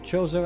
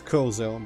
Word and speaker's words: Chozo: As we have done for millennia, we Chozo, actually I keep wanting to read that as Kozo, but I guess Chozo is the canon pronunciation, work constantly on our statuary.